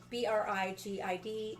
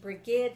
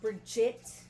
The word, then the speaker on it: Brigid: Um yeah, for those of you who see it, it's b r i g i d. It is pronounced Brigid like brigadier or brigade. It is not pronounced Bridget.